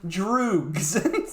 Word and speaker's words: droog: He leads a small gang of thugs, Pete, George, and Dim, whom he calls his droogs. His droogs. How do you spell that?